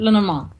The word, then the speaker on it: Lenormand: Lenormand. Okay, that's right. There's so many different ways I've heard them say it, Yeah, pronounce it.